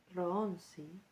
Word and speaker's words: Rohonczi: Bueno, el siguiente texto es el en realidad el códice Ronsi. Se escribe R o h O n c z I.